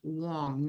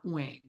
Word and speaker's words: Wong: TSU and he goes the middle word is pronounced Wong not Wang it's like that's really